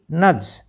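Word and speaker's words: nudge: ई बजट एन यू डी जी ई बी नज क्योंकि यहां पर डी साइलेंट है तो ड की जो है वो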